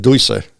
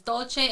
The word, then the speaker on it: Dolce: Yeah, I called it dulce. Well, that's what it means. Dolce in Italian is dulce.